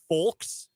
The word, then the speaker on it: folk: Then I met people from Wichita who were like, yeah, why wouldn't you pronounce the L? Because it's English. Like, there's all sorts of silent letters. Merriam-Webster's only got one pronunciation for that. Folk.